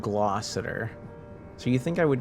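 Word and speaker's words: Gloucester: That's pronounced glossier. Yeah, it looks like it says glossester, but it's glossier.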